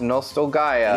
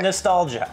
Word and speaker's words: Nostalgaia: Yeah, and before you light us up, it is pronounced Nostalgaia. Yes, it's not nostalgia. We were corrected multiple times when we called it the Last Hero of Nostalgia. It's definitely spelled the right way to be nostalgia.